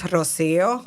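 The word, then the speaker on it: Rocío: No, Rocio, would that be pronounced Rocio Lopez? I would say in Spanish, Rocio.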